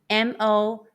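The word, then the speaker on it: mō: When you see M-O first tone in Pinyin, how would you pronounce it? The answer is Mo.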